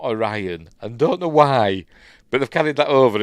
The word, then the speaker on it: Orion: and even Captain Kirk William Shatner said it pronounced it like that oron not Orion and don't know why